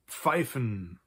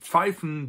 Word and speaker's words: pfeifen: The first one is pfeifen. So we have die Pfeife, which is the whistle or the pipe. And pfeifen doesn't mean to smoke.